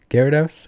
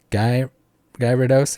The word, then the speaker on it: Gyarados: say oh manatee instead of almond almond knight gyarados i'd say guy gyrados instead of gyarados or you say you'd say